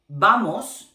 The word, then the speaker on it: vamos: Because in Spanish, those two letters have exactly the same sound. They have the same sound. Okay? So it's the same to say vamos or bueno.